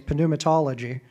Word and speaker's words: pneumatology: So the doctrine of the Spirit in theology is pneumatology, but pneumatology, the P is silent for most people, but it's allegedly said in Greek.